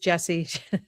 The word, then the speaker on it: Jessiy: It's IY, but it's pronounced Jesse.